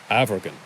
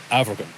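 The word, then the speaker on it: Amairgin: aloe next African no it's spelled amargon with an M but an m in the middle of a word is pronounced like a V and sometimes it's actually solved so it's African not American the same rule applies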